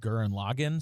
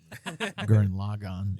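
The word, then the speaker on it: Gurren Lagann: first hearing about it I heard it pronounced G and Logan so that's how I pronounced it for the longest time but then when we started started watching it I was like oh G log on okay all right um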